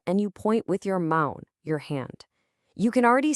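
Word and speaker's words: mão: When you have to say known or no, when you're asking for help and you point with your mound, your hand.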